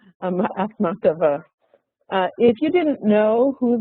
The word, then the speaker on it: Akhmatova: Would you pronounce her last name? Akhmatova. Akhmatova.